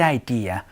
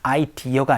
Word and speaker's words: idea: Rebecca came up with this great idea 라고 얘기를 한번 해봤습니다. idea가 아니고 idea 라고 발음해 주시는 것도 같이 기억해 주시면 좋겠네요.